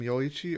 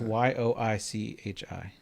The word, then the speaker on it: Yoichi: Is it Is his name Yoichi or I think it's Y O I C H I.